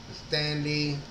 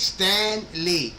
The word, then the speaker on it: Stan Lee: that Stanley but um no it's Stan Lee but yeah the way that he pronounced it was Stanley I'm like Stanley who the is Stanley like Stanley that's one word Stanley there the big difference was Stanley and Stan Le you know what I